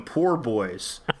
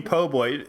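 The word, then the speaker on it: po' boy: insist on calling them poor boys hi could i have a shrimp poor boy uh you mean po boy yeah if you have bad pronunciation of the english language wow um no you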